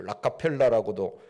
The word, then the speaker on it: 록펠러: 이름난 부자라고 알려진 미국의 록펠러 아고 하는 사람이 있죠 라카 펠라고 발음을 하는데 그는 믿음의 사람이었습니다 2001년에